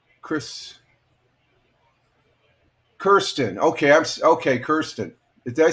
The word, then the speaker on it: Kirsten: Kirsten. Did I say that right, Kirsten? Kirsten from Texas. Kirsten. Yeah, K-I-R. Kirsten. Kirsten Anderson. Okay, Kristen Anderson. Okay, I'm gonna just call you K-A. How's that? Kirsten.